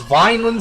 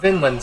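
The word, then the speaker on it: Vinland: the end of that a promise Neverland I pronounce it as Vineland saga but it's really pronounced Finland saga here's my pronounce it violent sagas well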